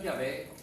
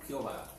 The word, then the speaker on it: Yahvé: La pronunciación Yahvé es sin duda la pronunciación más correcta del hebreo original, para indicar a Dios como yo soy el que soy.